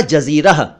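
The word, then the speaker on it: जज़ीरा: इसका सही उच्चारण है जिजिया, यानी पहले वाले ज के नीचे नुक्ता नहीं है, दूसरे वाले ज के नीचे नुक्ता है।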